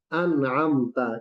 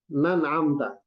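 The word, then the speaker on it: أنعمت: Siratal ladzina an'amta, kan gitu kan? Siratal ladzina an'amta. Dia bacanya begini. Siratal ladzina nan'amta. Siratal ladzina an'amta. Nah, hamzanya hilang.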